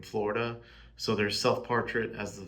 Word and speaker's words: Florida: Self-portrait as the I in Florida, and then self-portrait as the duh in Florida, which is how, you know, native Floridaidians pronounce the DA part of Florida.